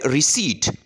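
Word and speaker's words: receipt: जाता है यह है रिसी ठीक है रिट तो इसमें प का जो साउंड है या पी लेटर जो है इसके अंदर साइलेंट है नेक्स्ट वर्ड है वेल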